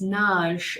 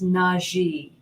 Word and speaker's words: Nagy: So one person says that it's Naj, and another one says it's Naji. So not Nagy.